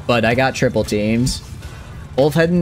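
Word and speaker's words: Ulfheðinn: Ulfheden is how you'd pronounce it, trying to explain it to an English speaker.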